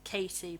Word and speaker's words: Cady: So Cady, and you know they make a point of that it's Katie, but it's spelt Cady.